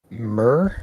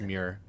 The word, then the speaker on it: Muir: We had 2 in Iona County, one near Belding, one near Murr. Is that how you pronounce it? It's Muir. Muir.